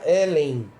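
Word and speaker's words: Ἕλλην: palavra grego ela ela em grego se pronuncia Helen Helen de Helena tá então é grego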